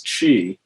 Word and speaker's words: Qi: really captures it their word for energy is Chi which was felt Qi but pronounced Chi and their slogan is the mind it directs